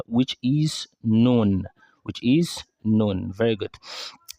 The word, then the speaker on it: ن: So, which means you cannot pronounce noon from the tongue alone without that additional feature, which is what we call ghunnah, a nasal sound from the nose.